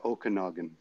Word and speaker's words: Okanagan: I mean that how you say it yeah Okanagan is it really nice there somebody's been asking